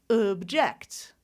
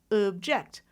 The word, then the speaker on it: object: that second syllable, I'm going to reduce the vowel to object, object. I started with I can't say I can't say object. I can't say that because a schwa cannot be on a stressed syllable.